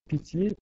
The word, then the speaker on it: pitié: On doit, c'est-à-dire, on voit ici, il y a synérèse, il faut prononcer pitié, pitié, et non pas pitié.